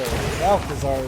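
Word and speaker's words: Malchezaar: So, Malazar is how it's pronounced.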